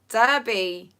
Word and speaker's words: Derby: Wychford, South Wales, Greater Manchester, Melbourne, Australia, Norwich, Wimbledon, Menorca, Derby.